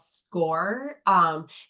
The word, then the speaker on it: Scoir: Yeah, and for Vernon Hills, we use a software platform called Score. It's spelled SCOIR.